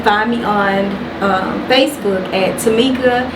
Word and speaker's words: Temeka: uh you can find me on Facebook at Tamika S and my name is spelled a little different it's t-e-m-e-k-a and then